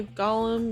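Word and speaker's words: Gaulem: for story purpose right to have it pronounced the same a golem because AU makes an a sound like autonomous it could have been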